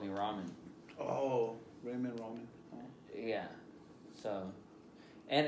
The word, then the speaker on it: Raymond: Oh, Ramen. That says ramen though. Like, so like sometimes when somebody asks for my name, I really pronounce like the D at the end of my name. It's Raymond.